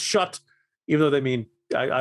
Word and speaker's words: Chartres: michel and shot although it's you know it's pronounced shut even though they mean i look at it and say chartres um terrific trip wonderful time uh france lives